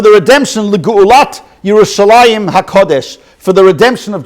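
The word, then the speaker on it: ירושלים: than the mem however it's always pronounced we usually pronounce it yerushalayim so interesting and if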